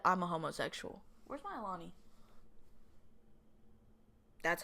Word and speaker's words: Alani: Where's my Alani? That's how you say it. Where's my Alani?